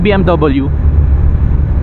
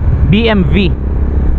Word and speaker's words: BMW: eh By the way ang talagang pronunciation daw pala niyan hindi BMW bmv as in victory pero dahil Pinoy tayo at nasa Asya tayo Sige na BMW na pero sa Germany which